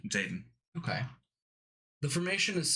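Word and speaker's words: Xaden: be dead by this time next summer it's Zaden actually Zaden Zaden okay the formation is silent except for a few untimely sobs from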